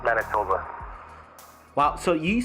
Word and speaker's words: Manitoba: for it um and it's in man it's pronounced Manitoba wow so you said uh you said you